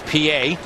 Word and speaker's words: Pie: it's no longer a possibility even though it's pronounced PA and you know spelled Pi p-i-e they no